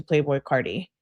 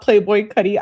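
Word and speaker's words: Playboi Carti: Yeah, I listen to Playboy Cardi sometimes. It's not Playboy Cuddy.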